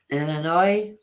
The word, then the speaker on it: Illinois: Illinois. Yeah, but the S is silent.